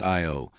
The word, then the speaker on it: Io: On Io, pronounced Io, the probe caught the Trashta volcano in action, capturing a volcanic eruption that reached 200 m 320 km into space.